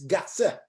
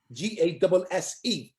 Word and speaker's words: Gasse: In Yiddish, it's one syllable, gas, whereas in German, it's Gasse, Gasse. You pronounce the second syllable.